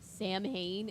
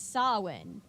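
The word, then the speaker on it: Samhain: whole episode calling this Sam Hayne and it's like it's nuts it's solid I know it looks like Sam Hayne but it's soin that's how you say it someone do this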